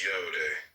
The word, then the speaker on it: Yod: The 10 ineffable Sephiroth, Yod pronounced Yode, transcribed as I, Y, the number 10, meaning creative hand, the intelligence of will.